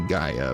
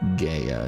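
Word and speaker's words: Gaea: It's probably Gaia, but because it's spelled with an E instead of an I. I keep going I keep sounding with Gaya instead of Gaia.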